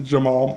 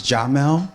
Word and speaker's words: Jamal: So it's a pleasure to introduce you to Jamal. Jamal. Hi, everyone. Good morning. Good morning. Pronunciation is Jamel, but of course, we just met.